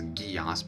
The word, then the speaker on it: Geass: Geass, and yes, I pronounce that as Geass because I watched Code Geass as a kid,